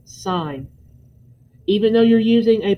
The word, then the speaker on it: sine: do not call it sin please for all that is good in this world do not call it sin it is sign even though you're using